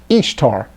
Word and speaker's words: Ishtar: summer ramus became known as istar which is pronounced just like it says ishtar referred to ashtareth in scripture and her moon